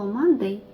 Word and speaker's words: Monday: Якщо ви подивитесь на слово Monday, то літерка друга після М є О. Хоча ми маємо запам'ятати, що ми читаємо не Monday, а ми читаємо Monday, так якби через букву А.